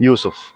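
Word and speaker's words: Yusuf: yeah yeah yeah I'm YF I'm from Iraq Iraq yes so YF is like yeah yeah yeah so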